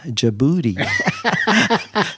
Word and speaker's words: Djibouti: So yes, the capital of Djibouti is Djibouti.